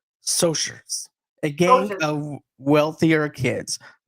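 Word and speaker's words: Socs: their rivalry is the uh is with the socks pronounced soers a gang of wealthier kids five of the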